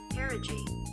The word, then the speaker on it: pierogi: Pierogi. Pierogi? Okay. Can we hear this? I don't hear it. Learn to pronounce. Why can't I hear it? Oh. Pierogi.